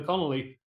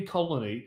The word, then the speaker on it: Connelly: choose between horizon Luna Connelly I always say colony well I know I said it right that time Conn Connelly I